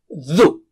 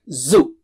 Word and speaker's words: ذُ: And let's take dhu. It's not zu. Dhu. Touch the tip of the tongue. Touch it with the top teeth, edge of the top teeth.